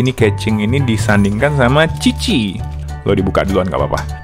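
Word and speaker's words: Qiqi: Orang Indonesia baca Q-I-Q-I, bacanya Kiki. Tapi kalau di Genshin dia dibacanya Cici.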